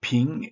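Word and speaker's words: 瓶: the vase itself uh the word for vase in Chinese is again pronounced ping and the word for peace also pronounced ping so uh a vase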